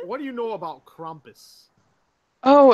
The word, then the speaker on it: Krampus: say Krampus, but it's actually pronounced Krampus. So they like more of like a kh.